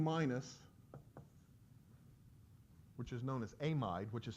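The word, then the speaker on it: amide: take n h2 minus which is known as aim ID which is spelled exactly like a mad but it is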